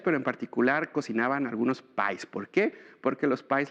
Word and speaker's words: pi: en particular cocinaban algunos pies. ¿Por qué? Porque los pies, la palabra pi en inglés se pronuncia pie, entonces dentro de las actividades se hacían este tipo de cosas.